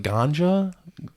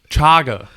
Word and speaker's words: chaga: I think Lion's man something that looks like it would sound like ganja but I don't think that's how it's pronounced like 98% sure that's not how it's pronounce it's chaga chaga chaga mushrooms chaga when I